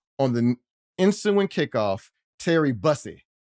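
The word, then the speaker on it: Bussey: On the ensuing kickoff, Terry Busy, busy, that's how you say it.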